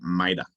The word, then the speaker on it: MITRE: the owners of the framework attack which is maida right so I know it's empty MIT r e is pronounced Mida like mid so maida history about maida right